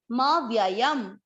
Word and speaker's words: पदमव्ययम्: म, व्य, य, और ये है अनुस्वार, इसका उच्चारण होगा आधा म। जो भी शब्द के बाद में अनुस्वार होगा उसको आधा म पढ़ेंगे, म व्ययम। तत्, त के बाद जो दूसरा त है वो है आधा, तत्।